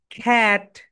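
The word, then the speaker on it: cat: এটাকে আমরা সবাই ক্যাট বলতাম, রাইট প্রোনাউন্সিয়েশন হবে, বলো। খ্যাট, খ্যাট।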